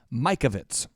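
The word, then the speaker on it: Mikovits: Judy Mike Ovitz and that last name is spelled mi ke Ovi T s now that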